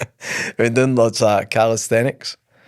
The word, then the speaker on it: calisthenics: No, I got corrected the other week. It was not calisthetics actually. It's calisthenics, I'm sure.